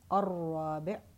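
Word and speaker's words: الرابع: Ar-Rabi', again, I'm not pronouncing the lam.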